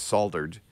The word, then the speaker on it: solder: world for mispronouncing it there is an L in there so I understand they